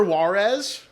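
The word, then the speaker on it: Juarez: Tinker Warez.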